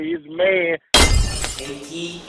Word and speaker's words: Kayki: Kayki. Like cake, like when you eat cake.